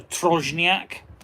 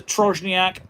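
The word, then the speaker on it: trójniak: Now I did something called a trojniac. It's spelled tr o j n i a k.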